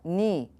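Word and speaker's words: νῦ: the M this one also looks like new but it should be more like it has carries more of a knee to it and I'm actually going to add an e so we kind of see there's a flow there like neat this would be neat okay now it gets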